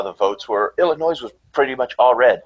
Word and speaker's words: Illinois: Actually, Illinois' funny state slogan is "Please don't pronounce the S."